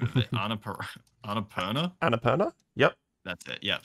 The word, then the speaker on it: Annapurna: Yeah, so once again, it's from God, I've always butchered the name of it. Annapurna.